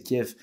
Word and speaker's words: Kiev: fier de dire que c'est kiev et que ça se prononce avec un f alors que cette année